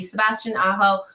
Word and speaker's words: Sebastian Aho: Sebastian Aho.